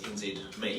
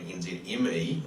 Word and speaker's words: NZME: a very warm welcome to our event sponsors nzme and for those of you like me that thought it might have been nzme until lately now it's pronounced NZ me um